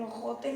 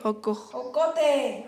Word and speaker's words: ocote: Que no manches, el ojote no nos dejaron. Ojote. Ocote. Ah, pues pronuncia bien.